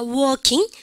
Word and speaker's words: walking: 발음을 갖다 붙여 working. 그러니까만요, 영국 애들은 사실은 이거 되게 비슷하게 들릴 때도 많거든요. 근데 이것도 뭐 한다고? 우리는 생각해 보십시오. 요 발음에서 여러분들이가 L이 뭐다? 묵음이에요. 발음이 되지 않는다라고 얘기합니다.